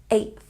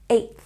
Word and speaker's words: 8th: And 8th has this TH sound. 8th. 8th.